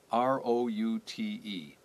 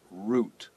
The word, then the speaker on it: route: people use English now we said route ro u te root pronounced like Roo T the root of a plant but if you go to the central United States or even further to California you will hear people say route the safeword has different